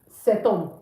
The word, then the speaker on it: cet homme: So H is considered a silent letter in French. It's not pronounced.